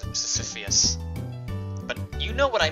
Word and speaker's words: Sisyphus: That's not how you pronounce Sisyphus.